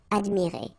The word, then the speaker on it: admirées: You don't pronounce it, okay? So you get admirer, but still you should put it. And here you've got, well, first the feminine and then the plural S. Phonetically, it is the same, admirer. Okay, so you've got phonetically only one form, and it's admirer.